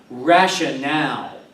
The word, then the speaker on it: rationale: word8 on page 77 is pronounced rational again rational with the accent on the last cable here are the